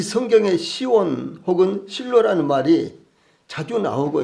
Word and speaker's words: 시온: 시온에 대해서 먼저 알아보면요, 시온은 뭐 지원, 치원, 원래 발음은 이런 말입니다. 근데 우리말로 그냥 시온, 시옷자로 이렇게 읽는데, 영어에서는 지읒자, 그래서 지원이고, 그 다음에 그 헬라어에서는 그래서 성경적으로 읽으면은 치원 이렇게 많이 나옵니다. 발음이요.